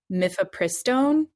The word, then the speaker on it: mifepristone: And the zine is specifically for self-managing a medication abortion with, and I'm totally going to mispronounce these, so please correct me, but mifepristone and or misoprostol through the end of the 12th week of pregnancy.